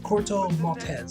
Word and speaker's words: Corto Maltese: care of a mission in the island of Corto Maltese.